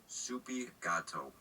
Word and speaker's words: SoupyGato: SoupyGato, Spanish for cat.